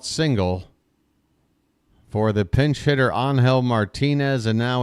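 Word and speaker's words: Ángel: be it by the way another name I've mispronounced so far it's anhel Martinez on now to pinch hit for Daniel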